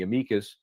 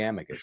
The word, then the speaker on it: amicus: So we tried to join in the amikas. I like to say amikas. Sometimes I'll say amicus.